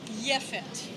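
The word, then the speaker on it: יפת: Japheth in Hebrew, Yefet. J and Y, very often between languages, overlap.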